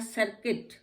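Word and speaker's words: circuit: इसके बाद सर्किट। सर्किट में भी आपका UI इकट्ठा आ गया, तो दो वॉवल इकट्ठे आ गए, तो हम उनको भी सर्किट कर देंगे, यू हमारा साइलेंट हो जाता है।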